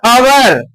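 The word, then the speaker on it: hour: इसको हम लोग आवर कहते हैं। एच से शुरू हो रहा है। इसको हम हवर नहीं कह रहे हैं। क्या कह रहे हैं? आवर। ठीक है? आवर कह रहे हैं।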